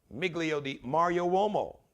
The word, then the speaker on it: Miglio di Mario Uomo: So it's pronounced like D, but it's D-I.